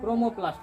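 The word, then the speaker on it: chromoplast: इसको बोलते हैं क्रो, CHRO, क्रो ना, क्रोमोप्लास्ट, क्रोमोप्लास्ट बोला जाता है।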